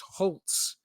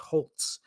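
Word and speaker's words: Holz: offense it is Nick Holtz now it's spelled HZ no T in there but it's pronounced Holtz so why wouldn't you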